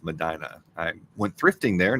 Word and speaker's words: Medina: Medina Ohio sorry and Ohio is actually pronounced Madina I went thrifting there